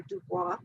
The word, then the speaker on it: Du Bois: summed up by w.e.b du bois or dubois i will pronounce it the american way du bois with his double consciousness